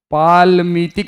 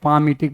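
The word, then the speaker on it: palmitic: ये याद रखना है, पालमीटिक नहीं पढ़ते हैं, पामिटिक पढ़ते हैं, एल को साइलेंट रखते हैं।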